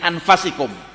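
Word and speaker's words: أَنفَسِكُمْ: Ada yang membacanya min anfasikum. Laqad ja'akum rasulun min anfasikum, telah datang kepada kalian seorang rasul dari manusia yang paling mulia di antara kalian.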